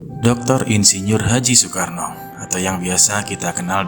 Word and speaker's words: Soekarno: Namun karena sering sakit, namanya kemudian diubah menjadi Soekarno oleh ayahnya. Nama tersebut diambil dari panglima perang dalam kisah Baratayuda, yaitu Karna. Dalam pelafalan Jawa, huruf A dilafalkan menjadi O dan ditambahi dengan kata su yang artinya baik.